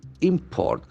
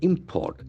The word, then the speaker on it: import: if it is a noun the actual force on the first syllable import import since it is a noun it must be read import government imposes helps on